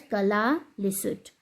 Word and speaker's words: Kalaallisut: It is pronounced as Kalaallisut.